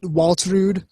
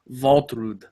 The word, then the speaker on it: Waltrud: Although since they're from Karlsland, we should probably pronounce them Waltrud.